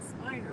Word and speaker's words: Spiner: It's Spiner, right? Yeah, okay. I always worry sometimes that I'm pronouncing him wrong.